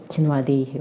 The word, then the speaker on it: Tinuade: Like people are going to pronounce your name in different ways, right? My first name is Teenewtv, right?